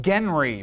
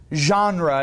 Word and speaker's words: genre: paper it looks like Genry but it's not how it's pronounced it's pronounced genre it's a French word so you can feel